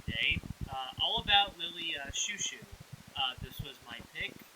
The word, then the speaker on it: Chou-Chou: Uh, well, you didn't say Lily Chowo, so that's good. Oh my god. Can you imagine? There's not even a W there.